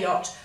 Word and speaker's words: yacht: Now the CH would be a guttural sound that you'd make. Sounds like someone's going to spit or vomit on you. It's like, huck. We can't make that sound easily. So when we say yacht, we leave out that sound. But when we write the word, we must still put in those two letters that the Dutch would put into that word.